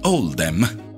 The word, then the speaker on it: Oldham: Questa scelta è stata fatta per riflettere la pronuncia di Oldham nell'accento locale, che è Oldham.